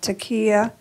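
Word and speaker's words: Taqiyya: Can you talk about Taqiya as it relates to how the author Najib Mahfouz developed it in his books?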